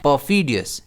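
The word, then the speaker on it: perfidious: इसे हम प्रोनाउंस कैसे करते हैं? परफीडियस। इसमें स्ट्रेस एफ पर रहता है।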